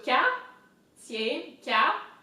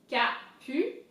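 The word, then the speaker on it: Capucines: So Capucine, P-U, Capucine, Capucine. And so here the S is silent, so it's important to not pronounce it.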